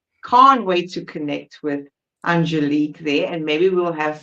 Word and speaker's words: Angélique: Is it Angélique? Am I saying it correctly? Yes, Angélique. So you're very close. Angélique. Yes. Yes, because it's French.